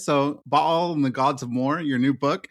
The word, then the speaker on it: Baal: I'm going to say Baal or Ball, but one of the two, because you can pronounce them both ways. So, Ball and the gods of more, your new book.